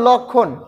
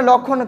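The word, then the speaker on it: লক্ষ্মণ: উচ্চারণটা নেই তারপরে আবার লক্ষণ আমরা এখানে লক্ষণ খিয় রয়েছে খির সাথে কিন্তু ক প্লাস মূর্ধন্য স রয়েছে এবং লক্ষণের জায়গা কিন্তু এখানে মটা উচ্চারিত হয়নি লক্ষণ তারপর হচ্ছে উ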